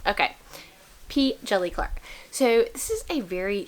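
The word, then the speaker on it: P. Djèlí Clark: it so it's jelly p jelly clark the d is silent okay p jelly clark so this is a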